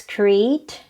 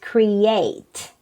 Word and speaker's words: create: Other people pronounce this as create, but the right pronunciation is create.